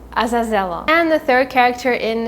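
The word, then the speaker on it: Azazello: be karovyev karovyev another psychic of voland is azazella azazella it might be a little hard to pronounce it's azazella and the third character in his group is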